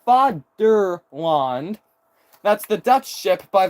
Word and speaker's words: Vaderland: Which I think is actually pronounced Fatherland. I think it's also pronounced Fatherland in German.